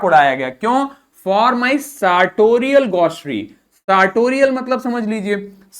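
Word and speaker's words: sartorial: सार्टोरियल मतलब क्या हो गया, इसको हम बोलेंगे, आर हो जाएगा साइलेंट हमारा, इसको बोलेंगे सार्टोरियल।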